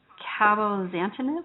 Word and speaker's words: cabozantinib: It's called cabozantinib.